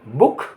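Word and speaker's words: book: B double O के बुक, बुक माने पुस्तक।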